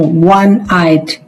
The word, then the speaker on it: one-eyed: It's one. Wa. Wa. And wa is a consonant sound.